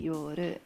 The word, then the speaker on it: Yor: Japanese, it's changed to Yor. Okay. Cool. Yor. But you can't end a word in Japanese with an R. So it would have to be Yoru, right? Is that how they say it?